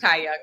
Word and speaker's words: Ti Young: It's pronounced tay young, but ti.you.